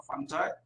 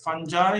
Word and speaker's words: fungi: There are three different pronunciations for fungi. You can pronounce it as fungi. You can also pronounce it as fungi.